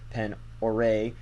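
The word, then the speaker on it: Pend Oreille: 20 near the Little Pen Oreille. I think that's French. And I've been told that's how you pronounce it. I could be wrong, though.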